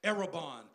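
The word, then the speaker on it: ἀρραβών: And when you translate the word earnest in the Greek, it's pronounced erebon, meaning that it is his pledge or a partial payment towards us.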